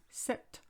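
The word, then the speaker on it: cet: computer which is masculine you would say set ordinator c-e-t because ordinator starts with an o if you wanted to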